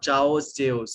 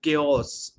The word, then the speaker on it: chaos: it chos no no no it's not chos it's chaos cha now what is mean